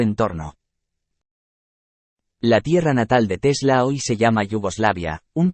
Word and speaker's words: Tesla: si se escribiera draganic el nombre tesla pronunciado tal como se escribe con igual énfasis en ambas sílabas en un sentido puramente